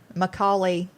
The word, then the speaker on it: Macaulay: Macaulay Culkin.